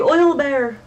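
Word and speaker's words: owlbear: to go talk to the owl bear, the oil bear. Sorry, I'm supposed to say it like that now since apparently that's what it's called.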